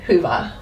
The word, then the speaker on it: hyvä: And it means good or happy, hyvä. Okay. Would that word be different or sound different if there was just one A? A little bit different. Okay. Hyvä. It's a bit longer. We pronounce it longer.